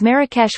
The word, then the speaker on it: Marrakesh: in moroccan arabic is marrakech with stress on the second syllable while vowels and the